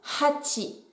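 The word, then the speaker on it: 八: Et ça tombe bien, car 8, ça se prononce hachi.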